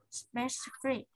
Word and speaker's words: specific: Specific. Specific. Specific. Specific. Vì trọng âm trước đuôi x đúng không? Thế nên là vào tiết thứ hai này các bạn đọc nhẹ cái âm tiết còn lại đi.